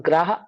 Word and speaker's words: गर्हा: वो कहलाता है निंदा और ग्राह। ऐसे होता है वो। और किसको गर होते हैं? भैया गुरुकर्मी। गरहा होता है। गरहा, ग्रहा नहीं, ग्राह, गरहा।